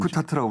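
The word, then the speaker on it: UNCTAD: 웅크타트라고 불러요? 예, 웅크타트라고 발음이 이제 그렇게 되잖아요.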